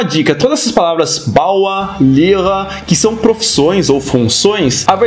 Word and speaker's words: Lehrer: Como professor, não é Lehrer, mas sim Lehrer.